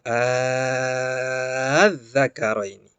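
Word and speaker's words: الذَّكَرَيْنِ: Nah, untuk menghindari kesalahpahaman tersebut, maka mad farqi, maka cara bacanya dengan mad farqi. Ya, itu dipanjangkan adz-dzakaraini.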